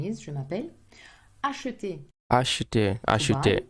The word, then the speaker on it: acheter: Acheter. Acheter. Usually pronounced acheter. Again, we have a E in the middle that we eat up.